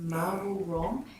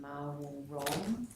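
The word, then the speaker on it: Mawul Rom: Just so I can understand that, and you've talked about, is it Marwul Rom? How do you spell that?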